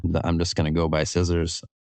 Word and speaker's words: SSRS: and so mine or SSR and my last name ends with an s so it's kind of like scissors okay cool and then